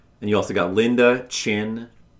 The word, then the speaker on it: Chin: And you also got Linda Chin. I guess it's Chin and not Chun. I was saying it wrong.